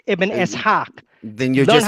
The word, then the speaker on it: Ibn Ishaq: It's not Ibn Ashaq, it's Ibn Ishaq.